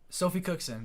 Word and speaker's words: Sophie Cookson: She has Sophie Cookson.